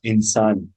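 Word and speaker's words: إنسان: आए एंड प आए इसको आप हमेशा प्रोनाउंस करते हैं य साइलेंट मिसाल के र आप बोलते इंसान इंसान से पहले इंसान स्ट वा इससे पहले और कोई ल कोई और ह बोलका डप नहीं करेंगे व इंसान वसान नहीं बोलते कभी ठीक है या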